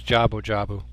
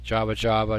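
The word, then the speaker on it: Jabu-Jabu: jabu jabu okay so his name's jabu jabu it can be very easy to kind of mispronounce the name Java Java jabu jabu that's just not possible our Guardian God lord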